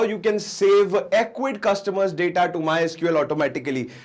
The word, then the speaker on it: Ecwid: call it awkward because some people call it easyweed so i don't know what do you people call it but i just searched it on google and ecwid is the right pronunciation so we are going